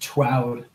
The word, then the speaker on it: TWOUD: Oh, it's not pronounced as an acronym, it's pronounced TWOUD.